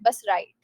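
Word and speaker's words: write: उसके बाद जैसे राइट जो है ना, तो इसमें डब्ल्यू साइलेंट होता है. जैसे बहुत सारे वर्ड्स होते हैं, और हम लोग अभी किसी दिन ये वर्ड्स डिस्कस करेंगे. जैसे हमने किसी दिन एक पैसेज पढ़ा था जिसमें जार था, CZAR, तो उसमें सी साइलेंट था. वैसे ही राइट में क्या होता है, RIGHT और WRIGHT दोनों का प्रोनाउंसिएशन सेम होता है, तो डब्ल्यू बोलेंगे ही नहीं इसमें, बस राइट.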